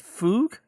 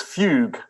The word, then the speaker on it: Fugue: Is it fug? It's fugue. Uh as in the type of music that uh uh Mr. Bach uh wrote a lot of.